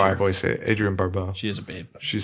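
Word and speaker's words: Adrienne Barbeau: How do you pronounce that? Adrian Barbeau. Yeah, That's how I voice it. Adrian Barbeau.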